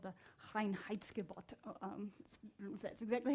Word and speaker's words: Reinheitsgebot: So So in Germany, there is this thing called the Reinheitsgebot.